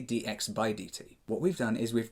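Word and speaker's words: dx/dt: But technically, this speed is actually dx divided by dt, or as it's pronounced normally, dx by dt.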